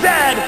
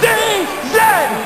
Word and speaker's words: Z: Chesterfield isn't coach and it is pronounced Zed not z z Canada is the second